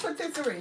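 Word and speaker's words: pâtisserie: Because what's patisserie? The bakery people. So You mean a pastry? it's a patisserie. That's how they say it in French.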